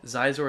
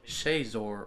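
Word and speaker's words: Xizor: One of our commenters on YouTube mentioned that Zizor is actually pronounced Shazor or something like that.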